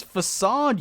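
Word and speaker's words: façade: The C does, if I recall. Yeah, the C yeah. technically should have like an accent under it.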